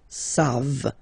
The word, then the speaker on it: savent: E-N-T, you don't pronounce it, so you get the sound savent, v-v-v-v, savent, okay?